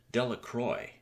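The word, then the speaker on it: Delacroix: and Harry Jones and Dicky delacroy the villagers pronounced this name delacroy eventually made a great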